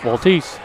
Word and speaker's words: Waltese: How you say it? Waltese? Yes, that is Waltese is what they told me. Waltese.